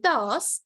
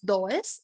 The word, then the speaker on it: does: Yes with Note el dos y vean que se pronuncia así no es does es dos el dos va a